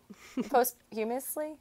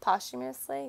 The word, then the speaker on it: posthumously: and like a post mortem kind of thing most you miss Lee how do you say that posthumously posthumously you got it yeah I say things audibly